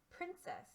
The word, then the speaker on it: princess: Princess. Say princess. First syllable, prin.